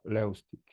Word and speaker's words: Levstik: My last name would be pronounced Levstik.